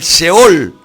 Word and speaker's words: Sheol: que hombres tan importantes como Job hablaban del Sheol.